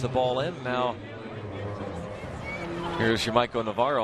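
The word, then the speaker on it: Yamaico Navarro: Now here's Yamaiko Navarro. Although the Orioles PR staff gave us a list of pronunciations, John, and according to them, he's now Yamaiko Navarro.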